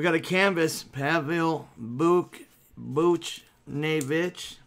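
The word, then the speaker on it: Buchnevich: a canvas pavel Buch Booch nae that's how you say it with the boots and the nae in the Red Wings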